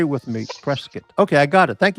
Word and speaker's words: Prescott: The locals in Prescott Valley pronounce it prescuit. Yeah, sure. Oh, like like beef brisket.